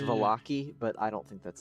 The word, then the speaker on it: Vallaki: Everyone, welcome to Valai, which I have learned is actually pronounced Vaki, but I don't think that's as fun.